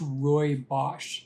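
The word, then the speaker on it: rooibos: Roy Bosh tea and it's spelled kind of funny it's spelled r-o-o-i-b-o-s and I've seen a few variations on that too but it's pronounced Roy Bosch so it's not quite spelled the way it's pronounced but this is something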